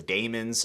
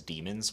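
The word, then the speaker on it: Daimon: are The Damons uh is it Damons or demons because the audio book basically says demons which I thought was interesting let me know down in the comments if I'm pronouncing that right uh I think the audio book would be correct by the way the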